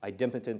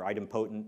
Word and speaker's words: idempotent: leads to something about ID impotent or idempotent depending on how you want to pronounce it processing and the whole